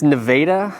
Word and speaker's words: Nevada: yeah first things first okay how do I pronounce the City Nevada uh it's it's Nevada because you know we got to be different